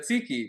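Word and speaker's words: tzatziki: this is yogurt chachik uh this thing or zadzik I don't know how you pronounce it. Chatziki.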